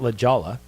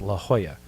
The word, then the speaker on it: La Jolla: And there's no, it's not La Jolla, it's La Jolla.